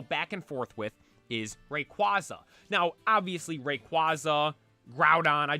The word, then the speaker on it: Rayquaza: the most prominent one people say Rayquaza or Rayquaza now I do believe the proper pronunciation is Rayquaza but if I'm being honest Rayquaza just sounds cooler Rayquaza like that